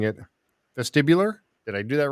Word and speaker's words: vestibular: was a uh and i was i was mispronouncing it vestibular did i do that right yeah this is vestibular yeah vestibular which is also they say it's